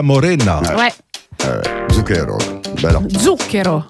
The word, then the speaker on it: Zucchero: Zucchero. L'accent tonique, il est sur début.